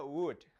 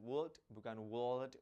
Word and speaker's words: would: Next ada would. Cara bacanya bukan would, tapi nggak pakai L, langsung would.